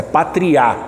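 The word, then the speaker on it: πατριά: Pater pai Pátria ou deixa eu colocar o acento do lugar certo é Patria no Grego é a última sílaba que é acentuada então pai Pater família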